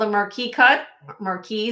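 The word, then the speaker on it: marquise: This is called a marquee cut. Marquee. Some people pronounce it with the ISE or with the, I usually don't, but personal is like tomato.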